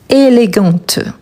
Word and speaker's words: élégante: Mais là, attention à la prononciation. Élégant, élégante.